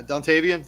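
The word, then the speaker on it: Dontayvion: Dante Vian Wicks, 1 touchdown for him. On the other side, Desmond Ridder. Yeah, Dontavian, thank you.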